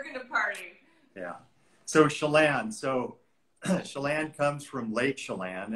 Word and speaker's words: Chelan: So, Chelan comes from Lake Chelan, and it's pronounced Chelan. It's not Chelan. It's not Chilean. It's Chelan. Okay. Chelan. Like Shell and Chelan.